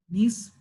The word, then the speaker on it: Nees: Is Nees how I pronounce it, or is it Nias? Nees? Okay.